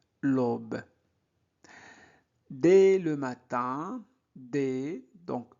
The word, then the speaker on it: matin: Dès le matin, donc E accent grave se prononce E, dès le matin, IN se prononce un, matin, de nombreux, OM se prononce on, non, nombreux, voisins se dirigent.